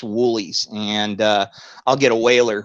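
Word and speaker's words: Wholey's: It looks like Holy's, but it's pronounced Woolies.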